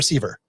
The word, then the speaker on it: Sever: Sever or Sever?